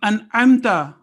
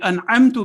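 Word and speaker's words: أنعمت: And in every, for example, in An'amta alayhim, An'amta alayhim would be wrong, An'amta alayhim. So Ayn has its place. And similarly, if Fatha, Kasra, and Dhamma are wrongly pronounced, for example, in An'amta means you bestowed, and An'amtu means I bestowed. So you can well imagine what impact will it have if we wrongly say An'amtu.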